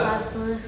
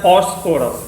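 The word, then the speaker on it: phosphorus: ठीक है ना, पढ़ते हैं फॉस्फोरस, क्या पढ़ते हैं, हम लोग फास्फोरस बोलते हैं लेकिन इसका सही उच्चारण है फॉस्फोरस।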